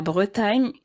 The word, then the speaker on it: Bretagne: La Bretagne, which is a Sorry.